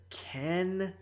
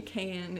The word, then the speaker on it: Can: The director is Ken Evrenol. Literally Can is his name. Yeah, Can.